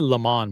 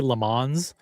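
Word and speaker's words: Le Mans: Of course, we're talking about I pronounce it lemon, by the way. I don't say this. I don't say the s. I don't say lemons.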